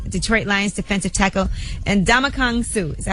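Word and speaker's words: Ndamukong Suh: sports athlete Detroit L Detroit Lions defensive tackle and damak Kong Su is that how you say his name yes and damak kangu so they're going to be representing him he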